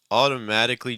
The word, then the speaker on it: automatically: Okay, so your vowels here are, your stress is on mat, right? So let's maybe start with the stress vowel.